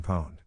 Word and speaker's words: pwned: At least here at Unqualified Reservations, pwned alliterates with posse and rhymes with loaned.